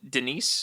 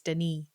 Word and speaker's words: Denis: of Dennis no no Denise be French Denise is silent yeah I think it's Danny an American Thriller film